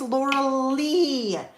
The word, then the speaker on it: Laura Lee: in case you know you're saying my name again it's Laura Lee and I'm like oh